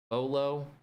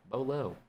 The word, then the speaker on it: Beaulo: Beaulo was literally just me liking the spelling and the pronunciation of Beau.